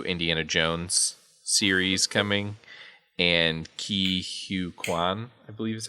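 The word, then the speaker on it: Ke Huy Quan: It does look like some exciting news, semi-related to Marvel, is that there's a new Indiana Jones series coming, and Ki Hu Kwan, I believe is how you say it.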